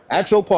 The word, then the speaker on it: Axopar: I'm with it I'm a a axopar fan axopar I said it right yep absolutely thanks again